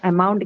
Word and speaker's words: amount: the second syllable okay that is how amount gets its stress on the second one okay this is an